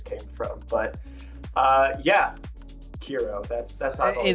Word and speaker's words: KERO: Uh we can get into where my alias came from, but uh yeah, Kira. That's that's Kira.